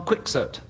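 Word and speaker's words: Don Quixote: Don Kyote or Don Quicksert, whichever way you'd like to pronounce it.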